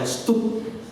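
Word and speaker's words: Studd: Dan akhirnya dia tahu, Charles Thomas Stott, bacanya Stup, ya.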